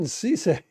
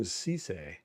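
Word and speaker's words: Cissé: We just announced to him South Carolina quarterback Brandon Cisse. I guess that's how you pronounce his name. C I S S e Culture on the clock.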